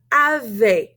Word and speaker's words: avez: But we have avez. We're not going to pronounce that Z either. E, Z together have an A sound, kind of like j'ai.